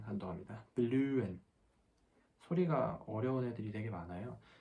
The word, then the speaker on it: blühen: 여기 하 소리가 blühen 이렇게 나는 게 아니라 이렇게 모음이 같이 나오고 그 다음에 바로 하가 나오게 되면은 얘는 하 소리는 묵음이 나고 모음 이렇게 소리가 나야 돼요.